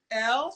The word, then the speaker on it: Elle: Elle, she is the creator and founder of Beloved Upcycle, which what is that noise?